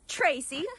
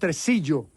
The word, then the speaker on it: Tresillo: Not so fast, Tracy. We're taking him. It's pronounced Tresillo.